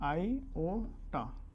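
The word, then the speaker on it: iota: आई को तो हम लोग पहले बोलते हैं आयोटा। क्या बोलते हैं? आयोटा। This is the pronunciation of आई, आयोटा है।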